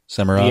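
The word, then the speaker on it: Semirhage: Semerhag. The H is silent.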